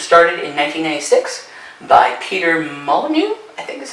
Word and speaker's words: Molyneux: Lionhead Studios was started in 1996 by Peter Molyneux, I think is how you say his name.